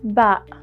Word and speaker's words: باء: in the Arabic alphabet it is equivalent to the letter B in English ba is easy to pronounce and detect because it is identical to the English letter B but unlike the letter